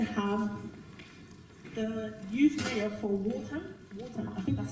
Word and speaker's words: Waltham: Okay, so what we're going to do now, we're actually going to have the youth mayor for Waltham. I think that's how you say it. Waltham.